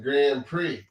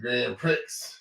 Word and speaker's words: Grand Prix: ago this was about her mispronunciation of Grand Prix ah she said Grand Pricks Grand Pricks yep High